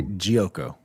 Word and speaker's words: Geoco: Is Geoco how you pronounce it? I'm gonna say Geoco. Yeah, you guys nailed it. Perfect.